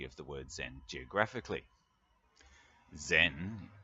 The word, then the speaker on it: Zen: the word Zen geographically Zen is the Japanese pronunciation of the Chinese word Chan which means something like